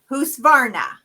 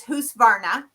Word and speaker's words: Husqvarna: It's Husqvarna. It is the name of a town. So the Q is basically silent in that Swedish language. So it is Husqvarna. So practice saying it so that you say it right.